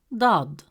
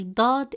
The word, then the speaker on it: ضاد: front of the mouth, while Dad is always deep and heavy, pronounced from deeper in the mouth.